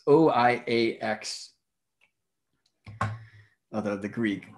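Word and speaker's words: οἴαξ: in the day, it's O-I-A-X. Although the Greek letters would be pronounced differently than that, right? And depending on the era of Greek, I understand this is either pronounced oiax or iakos.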